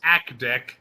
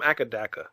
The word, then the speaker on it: AC/DC: some people would mispronounce Akdek. No, but you know what's weird? Australia, they call them Akadaka.